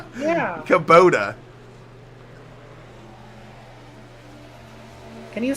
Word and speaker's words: Kubota: He's still all over that back bumper of that Kabuto 99 machine. Kabuto? What is Kabuto? Kabuto? How the hell do you pronounce? I've always pronounced it Kabuto. Kubota. It's Kubota.